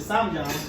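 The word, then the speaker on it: 쌈장: You get your samjang. There's a J there.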